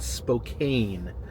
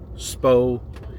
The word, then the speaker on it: Spokane: am getting is right now is that I mispronounced Spokane, Washington. I think I called it Spokane, Washington, and this is it's very common for